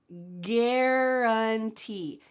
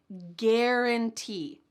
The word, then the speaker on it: guarantee: The first one is going to start with a hard G sound. G, guarantee, guarantee, guarantee.